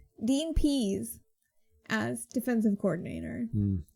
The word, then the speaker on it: Pease: Dean Pease as defensive coordinator. Like, he pees. He urinates, yes.